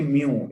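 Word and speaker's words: μ: और ये म्यू, इसकी MEW इसकी प्रोनाउंसिएशन है, तो ये याद सर रखिए।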